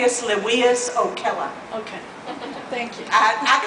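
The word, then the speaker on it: Appius Livius Ocella: element and yeah El yes ma'am can you pronounce Eric's maker name name Aus leas Oella okay thank you I I consulted a Latin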